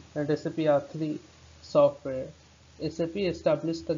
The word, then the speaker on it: SAP: It is a initialization, not an acronym. Therefore, it is pronounced as individual letter SAP. SAP is not pronounced as the word SAP.